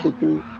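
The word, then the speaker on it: Citroën: pronounce Citron? Citron, All yeah.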